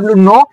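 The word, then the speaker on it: knee: মানে জানা যেমন আবার এখানে দেখ এন ওড নো এলইডি নলেজ নলেজ মানে কি জ্ঞান আবার কেন মানে ন তাহলে এন আই জি এসটি কি হবে?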